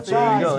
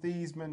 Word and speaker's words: Theismann: But not only did he change his name from Joe Theismann to Joe Theismann to rhyme with the Heisman, but he's the only